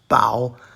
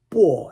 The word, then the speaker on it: 薄: However, in the sense of being cold to others, it's pronounced bao, 2nd tone.